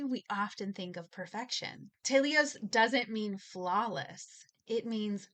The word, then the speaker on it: telios: It's a Greek word and I will probably butcher it. I tried to find the pronunciation to make sure I didn't say it too American, but I'll probably butcher it. It's tios. So, it's t e l i o s.